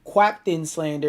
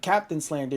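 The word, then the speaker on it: Qaptain Slander: For example, there's still humans that say my name quaptain slander instead of Captain Slander despite there being no U in my name and the Q is just a stylistic replacement for the C.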